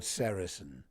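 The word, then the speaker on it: sericin: One of them a very important one is called sarasin. You spell that s e r i c i n.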